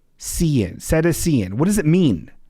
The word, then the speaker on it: cetacean: Samantha, who's an educator, thank you for your service, says it's pronounced Cetacean.